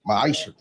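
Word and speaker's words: מעשר: In the book of Malachi chapter 3 verse 8-10 means 10th in Hebrew and it's pronounced maisha 10% of every penny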